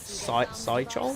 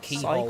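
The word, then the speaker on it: Cichol: Yeah, I remember when I first played it, and I was like, oh, Sidechol? Sidechol, maybe? Yeah, no, he pronounces it keyhole, Cycle?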